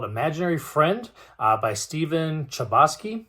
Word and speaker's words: Chbosky: friend uh by Stephen chubosky hopefully that's pronounced right c-h-b-o-s-k-y it's kind of tough but I'm gonna go with Stephen Chbosky uh so this book